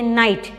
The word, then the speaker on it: knight: Okay, don't say knight. K is silent, you have to pronounce it as a knight.